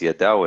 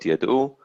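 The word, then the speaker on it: ידעו: This is a pausal form, and for that reason it's Yadau and not Yadu.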